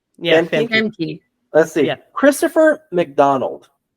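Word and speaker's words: Famke: Emke Jansen. Yeah. I don't know how to pronounce her first name. Emke? Yeah. Emke? Femke. Yeah. Femke.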